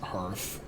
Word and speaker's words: hearth: I know that it's pronounced hearth or hearth because it's the hearth, right?